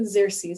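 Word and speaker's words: Xerces: how to pronounce it it starts with an x it's a little bit intimidating but it is pronounced the xerses society and we get our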